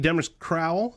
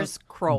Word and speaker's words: Demers-Crowell: It's Demers-Crowell. Did I pronounce that? Demers-Crowell. Demers-Crowell. See, I wasn't even close.